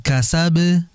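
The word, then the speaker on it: كسب: Wa ma kasab, itu enggak ada tasydid. Walaupun kondisi dia sukun, karena enggak ada tasydid langsung dipantulkan kasab.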